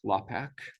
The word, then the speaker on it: LAPACK: east coast people people outside of the us pronounce it lapack but it blasts blast to everybody and these